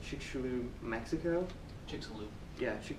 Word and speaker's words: Chicxulub: They also eventually found an impact crater in, let's see if I can say it right, Chicxulub, Mexico? Chicxulub. Yeah, Chicxulub.